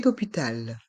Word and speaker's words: hôpital: une ambulance un lit d'hôpital un lit d'ôpital le O avec un accent circonflexe se prononce o comme la lettre O un lit d'hôpital un